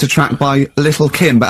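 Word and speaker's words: Lil' Kim: Now, Steve, I see there it's a track by Lil Kim. But how are you pronouncing it? I'm pronouncing that correctly, Lil Kim. Oh, no T's involved.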